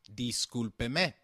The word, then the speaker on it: discúlpeme: However, for seeking someone's attention, excuse me will translate to discúlpeme. Let's look at this pronunciation again. Discúlpeme is pronounced as di-scul-pe-me, with the sound of pe like in pet and me like in met.